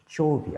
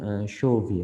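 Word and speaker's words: chauvoei: এবং আরেকটা হচ্ছে ক্লস্ট্রিডিয়াম চৌভি, আসলে চৌভি না, এটা হচ্ছে যে শোভি আর কি উচ্চারণটা, ক্লস্ট্রিডিয়াম শোভি।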